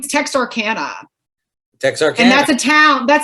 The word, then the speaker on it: Texarkana: name uh her name text arcana and that's a town that's a town up where texas obviously you know arkansas louisiana meet which is not a cajun town but texarkana rhymes with louisiana so i had to